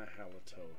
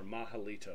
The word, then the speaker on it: Mahalito: halotel and we got my halotel here or mahalito I think is how the developer actually pronounces it there we go mahalito to the rescue all